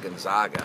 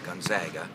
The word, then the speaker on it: Gonzaga: from gonzaga and uh they said you're gonna get in trouble out here if you pronounce it gonzaga because i said well i think gonzaga is a very good team and then stop me immediately it's gonzaga uh so let's make